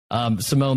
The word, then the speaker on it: Simon: It's Simone, and it's spelled like Simon. I have to always say that because I always get some people who say, hey, I can't find you, and I'm like, drop the E.